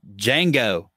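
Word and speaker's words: Django: Jango. Like Unchained? The D is silent.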